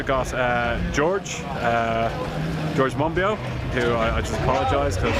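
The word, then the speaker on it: Monbiot: uh george uh george monbio who i just apologize because i've always been pronouncing uh your name wrong because of the t at the end uh mombosa is uh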